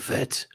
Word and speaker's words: Fett: in it fett my name is fett she says i say the last name wrong it's not as in it's fett which is correct yeah anyway are